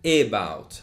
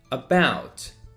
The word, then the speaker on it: about: again the second one i don't say about i say about about because you need to